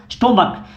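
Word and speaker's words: stomach: जैसे स्टोमक, यहाँ पे स्टोमैक कै आ रहा है, सी एच का जो प्रोनाउंसिएशन निकल रहा है वो कै निकल रहा है, इसलिए यहाँ पे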